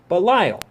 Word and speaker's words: Belial: is pronounced Belial and it's pronounced that way in the Bible and in many other situations like Dante's Inferno when they're talking about the various devils and this that in the other it is Belial however because of all